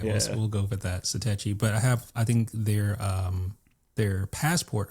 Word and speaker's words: Satechi: How do you pronounce it? Is it Satechi or Satachi?